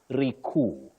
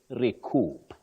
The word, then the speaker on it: recoup: get confused and then they say recu which is inaccurate you say recoup the p is pronounced okay um will before